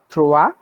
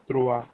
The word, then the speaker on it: trois: Number 3 is pronounced as trois. Trua. Trois, yes.